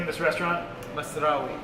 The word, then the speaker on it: Masrawy: John, how do I pronounce the name of this restaurant? Masrawy. Masrawy.